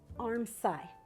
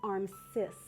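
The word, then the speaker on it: armscye: passes at the sleeve arm sigh maybe that's pronounced arm cis you know i'm never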